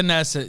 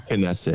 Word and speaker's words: Knesset: It's the Knesset. Yeah. Kesset. Kesset. Okay. Thank you. Sorry, I I'm off other languages. Yeah, it looks like it would be silent, but it's not.